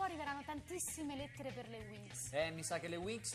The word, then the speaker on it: Winx: Ecco, diciamo una curiosità, naturalmente Winx, cioè ali in inglese, storpiato, un po' trasformato per il cartone animato, diventa Winx con la X, che si pronuncia quasi uguale, si legge così, insomma.